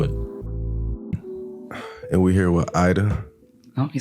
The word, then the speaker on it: Ayda: And we're here with Ayda.